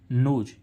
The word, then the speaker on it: nose: अब इसमें हम देखें ऐसे ही नोज, NOSE, नोज, यानी ओ के बाद क्या आ रहा है, व्यंजन के बाद तुरंत बाद क्या आ रहा है, ई, तो इस ओ का उच्चारण क्या हो रहा है, ओ, यानी कि नोज मीन्स क्या हो रही, नाक।